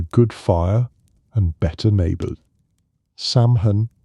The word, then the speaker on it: Samhain: Samhain was the word many used. Say it like sew in.